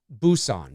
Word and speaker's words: Busan: The correct pronunciation on this is. Let's see. Busan.